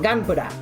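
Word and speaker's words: ガンプラ: So, Gpura is how it's pronounced.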